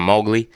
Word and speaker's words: Mowgli: your brand new project my new project's called mowgli just like the jungle book okay mowgli okay i